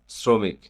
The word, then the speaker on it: শ্রমিক: তালবস বর্ণের উচ্চারণে কি ধরনের বৈচিত্র দেখা যায়? এর দুই রকম উচ্চারণ হয়। কখনো মূল তালবসর মত যেমন শত আবার কখনো দন্তসয়ের মত যেমন শ্রমিক।